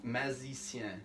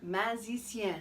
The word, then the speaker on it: magicien: Magicien. Magicien.